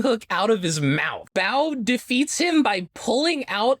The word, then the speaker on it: Baoh: he wants to know it's pronounced bo yeah i knew it